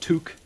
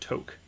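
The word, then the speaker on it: tuque: don't need another two i did not know that was pronounced took well maybe it isn't maybe it's only pronounced took if you're canadian i speak english so i would pronounce that toke i wonder if this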